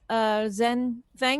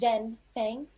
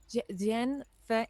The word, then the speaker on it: Jen Fang: Miss Zen Fang, is that correct? The correct pronunciation is Jen Fang. Jen Fang.